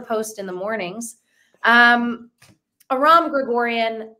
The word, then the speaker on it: Aram Grigorian: even more to post in the mornings um Aram Gregorian how are you can am I one of the only podcast host who's pronounced your name correctly you are well that's